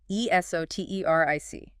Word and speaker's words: esoteric: Esoteric. Emphasis. Stress on the third syllable. Esoteric. Esoteric. 4 syllables. Esoteric.